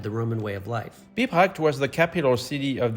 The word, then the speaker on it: Bibracte: I'm glad you did that one because that's a hard one to pronounce. Bibracte.